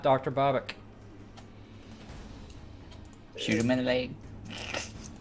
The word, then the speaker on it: Babak: Babak. I still don't know how you actually pronounce his name. You were pronouncing it Babbitt in previous episodes. Babbitt! Babak.